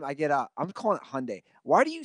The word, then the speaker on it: Hyundai: I mean, I'm just pronouncing it how it's spelled. Hyundai. I don't know what. I see. It seems like everybody else just went through the Y, ran through that Y like a stop sign.